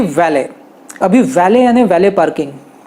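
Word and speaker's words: valet: था फ्रेंच लोगों से, ये एक फ्रेंच वर्ड है वैले, तो इसलिए अब फ्रेंच लोगों की तरह उन्होंने ट कट कर दिया और उन्होंने वैले कर दिया।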